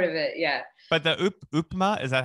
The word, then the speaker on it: upma: But the upma, is that how you say it?